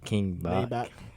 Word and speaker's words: King Bach: like King Maybach, so King Bach.